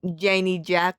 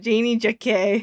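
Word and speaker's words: Janey Jacké: Janie Jack for doing James Charles. First of all, it's pronounced Janie Jacquet.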